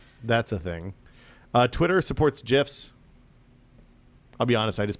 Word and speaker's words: GIF: Twitter supports GIFs. I'll be honest, I just put this in here so I could say GIF.